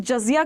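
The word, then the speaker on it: جزية: History में ना हम जजिया के बारे में पढ़ते हैं. इसको जजिया जिजिया भी बोला गया है. ठीक है, डिफरेंट लैंग्वेज से वो प्रोनाउंसिएशन स्पेलिंग अलग हो जाती है, तो जजिया जिजिया दोनों बोलते हैं.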